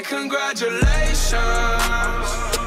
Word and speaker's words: congratulations: Now they always say congratulations. Work so hard, forgot how to vacation. Então bora lá. Primeira parte. Con, con. Depois, gra, gra. Congra, congra. J, j. É como se fosse um som de um D e de um J.